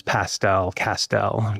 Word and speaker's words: Castel: And so I tell people my last name is Castel. Castel rhymes with pastel, and my grandfather used pastels, let's say.